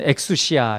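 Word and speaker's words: ἐξουσία: 어, 물론 권세도 있고 어, 어떤 것들을 얻는 것 뭐 이런 것들이 있고 어,이 그 헬라어로는 엑수시아 이렇게 발음하는데 어, 어떤 것들을 뭐 허용하다, 가능하다, 능력이 있는 거 뭐 이런 것들을 얘기를 하는 이제 표현이긴 한데요.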